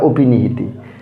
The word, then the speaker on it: অপিনিহিতি: হ্যাঁ, তা এটার উচ্চারণটা আমরা উচ্চারণ করেছি, এটা অপিনিহিতি না, কিন্তু এটা অয়ের উচ্চারণটা এখানে ও হয়ে যাবে, অর্থাৎ অয়ের সংবৃত উচ্চারণ। হ্যাঁ, অপিনিহিতি।